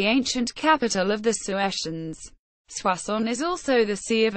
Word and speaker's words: Soissons: swass on French pronunciation swas is a commune in the aim